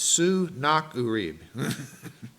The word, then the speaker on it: Sennacherib: to me about Sennacherib, he's hard to pronounce. It's Sennacherib. That's how you pronounce that.